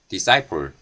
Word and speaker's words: disciple: 오초아 학생 표현이 있습니다 발음 기호를 보면 이 표현은 싸이 폴 이라고 말 합니다 그런데 여기 dips